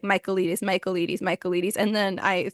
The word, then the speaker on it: Michaelides: It's spelled in a very Greek way. His name is Alex Michaelides. And I know this because I listened to him say, "Hi, I'm Alex Michaelides," in a little video like 3 times to